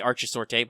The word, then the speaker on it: Archisorte: I would say Archisorte, but I'm pretty sure that's how Kenneth said his name with the hard C.